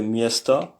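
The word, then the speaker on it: место: Au fait, c'est miesta, ça se prononce miesta, ça s'écrit miesto, mais c'est prononcé comme miesta, devient miesta.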